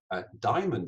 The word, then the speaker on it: diamond: find little more difficult diamond is actually quite a hard one because there's a tendency to over stress every syllable diam and it's actually diamond we tend to be lied slightly back so you've got all